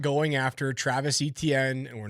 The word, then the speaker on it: Etienne: It should be Etienne. There you go. I can do that. That's the French Cajun Creole pronunciation. Etienne, not Etienne.